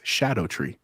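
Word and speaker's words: Scadutree: fact Joe I learned do you know how the correct pronun pronunciation of the scat tree fragments is Shadow tree that's the pronun shadow tree fragments that is the correct pronunciation learn that on the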